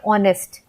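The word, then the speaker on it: honest: है h से तो यहां पे हम हनरी या नेस्ट नहीं बोलते हम बोलते हैं ऑनेस्ट है ना ऑनेस्ट की स्पेलिंग होती है एच ओ एन ई एस टी तो यहां पे एच जो है वो साइलेंट है हमें ऐसा लगता है कि हम ओ से स्टार्ट कर रहे हैं ऑनेस्ट बट ये स्टार्ट होता है एच से फिर बात करते हैं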